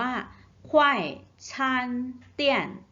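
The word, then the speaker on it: 快餐店: 3 พยางค์ นะ คะ ตัว นี้ ออก เสียง ว่า ควาย ชาญ เตี้ยน ควาย ฉัน เปลี่ยน ฉัน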